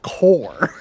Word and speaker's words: Corps: And then when he saw how it was spelled, he's like, oh, that's pronounced core. You don't pronounce the PS in that.